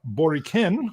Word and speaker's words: Boriken: primarily because we're going to be talking about boriken i got the pronunciation right yes all right which is the